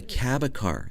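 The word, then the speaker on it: Cabécar: with another tribe in costa rica called the cabacar am i correct how do you pronounce that yeah that's correct um shortly after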